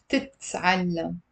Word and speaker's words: بتتعلم: Okay, so basically the verb actually has a T inside it. And when I'm adding the B and the T for she, to conjugate she, I'm having two T's.